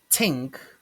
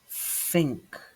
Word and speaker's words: think: It's not tink, tink, but think, think.